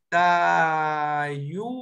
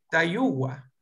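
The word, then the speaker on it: Tayua: No hay ninguna W. Entonces, por lo tanto, no se escribe. Pero en un habla fluida le van a decir Tayúa. Es como una U alargada o como una W en medio de la U y de la A.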